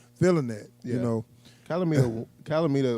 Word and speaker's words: Calamita: So and then next out that brings Calamino. Is that how to say his name? Calamita.